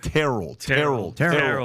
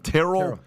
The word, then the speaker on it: Terrell: Terrell Owens say it Terell ter like Cheryl Terell Owens is the proper pronunciation not Terrell and by the way